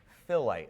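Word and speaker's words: phyllite: next rock type being what is known as filite I know it's a strange word but that's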